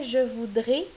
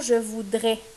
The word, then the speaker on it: je voudrai: ici au futur simple on dit bien je voudrais et non je voudrais il y a pas de s ici à la fin et c'est ça qui